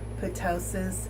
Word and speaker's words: ptosis: It's spelled P-T-O-S-I-S, like ptosis with a P, but it's actually pronounced ptosis with a silent P. So I did make the mistake of calling the breast droop ptosis.